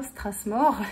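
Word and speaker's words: Strathmore: la gamme anumulée ça je vais le prononcer à français désolé strass mort avec le TH vous avez les carnets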